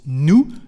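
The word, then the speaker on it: nous: proper subject which is new new Su new Su to translate we are and as you can hear we don't pronoun the letter S at the end of new new Su and is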